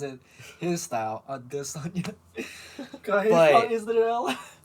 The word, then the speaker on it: Adesanya: No, it's Israel Adesanya. You gotta say it right. You like it when he says it his style. Adesanya.